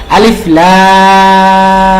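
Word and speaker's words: الٓر: আলিফ লাম ওকে আরেকবার এইযে এখানে মিয়াজিব আদায় করতে হবে আর রতে এক আলিফ আর লামের চার আলিফ আলিফে কোন টান নাই ওকে বলুন আমার সাথে আলিফ লাম মাশাল্লাহ চতুর্থ সেট সাত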